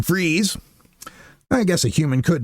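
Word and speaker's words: Fries: country hit convoy and they call him Bill Fry when he pronounced his name Freeze.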